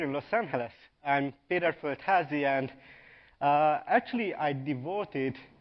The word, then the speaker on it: Földházi: of you here in Los Angeles I'm Peter felazi and uh actually I devoted this session to teach Alison how to pronounce my name but actually she got it